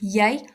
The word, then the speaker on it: jy: Remember, J is pronounced as a y in Afrikaans. Jy and then yo.